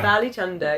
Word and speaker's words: Bali Chunder: That is exactly how Bali you should say it. Bali Chunder, yeah.